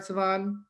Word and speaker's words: Sevan: introduce to you all siobhan did i pronounce that right siobhan two thumbs up i wish you were